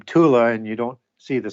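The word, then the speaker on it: Thule: want if you ever heard hear the name tula and you don't see the spelling it's spelled t hu l e but that pronunciation is Tula or the H of science silent and it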